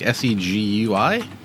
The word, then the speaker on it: Segui: have another one screw it's like s-e-g-u-i segui it's not spelled like Segway the company yeah that goes